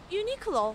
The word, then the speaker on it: Uniqlo: Can you pronounce the name of this store? Uniqlo.